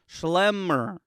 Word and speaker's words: Schlemmer: shitty magazine name no shelmer would be no l it's schlemmer show the people show